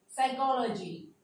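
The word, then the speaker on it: psychology: हो गया, एन और ये भी एन, ये साइलेंट हो जाएगा। साइकोलॉजी, न्यूमोनिया, साल, न्यूमैटिक, पी यहां पर साइलेंट हो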